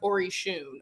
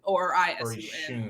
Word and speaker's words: Orisun: Oh, also the band is pronounced Orisun, or Isun. Orisun. Trust me, we got that straight in the pre-production meeting, and since then he's messed it up.